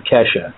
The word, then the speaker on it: Keshe: The way he pronounces his own name is Keshe. Okay. K-E-S-H-E. It looks like Keshe, but apparently he says it Keshe.